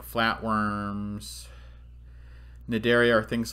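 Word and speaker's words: Cnidaria: actually part of this phylum called naderia the sea is silent okay so this is naderia um you don't need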